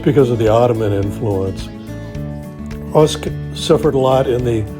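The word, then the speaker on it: Osijek: Usk is how it's pronounced. It's definitely not how it's spelled.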